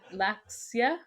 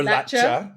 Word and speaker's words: Latxa: You pronounce this two different ways. So, we have an accent here. I don't know how to pronounce Latxa. La- Latxia? sheep Or Latxa, right? Cuz the X is pronounced silent. sheep. Latxa. Latxa. Sometimes the X is silent or a sound or there's a Latxa